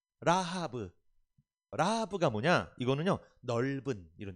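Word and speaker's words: רחב: 여러분, 라압의 이름이 있어요.이 라합의 이름 히브리어는요. 발음이 라브입니다. 라브.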